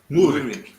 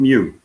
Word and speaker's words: Murik: Murik. Murik. Murik. No, not Mew. Mu. Moo.